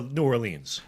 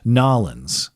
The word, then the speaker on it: New Orleans: I go for New Orleans. Nawlins, I believe the locals say.